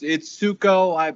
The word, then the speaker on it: Sukow: So yeah, it's Sukow. I usually tell folks. If you've ever seen the movie Grease, Danny Zuko, it's like that, but a soft S.